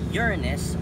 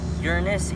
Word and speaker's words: Uranus: least it's here now Uranus is the seventh planet from the sun another pronunciation is Uranus but I'll stick with Uranus for now he has also has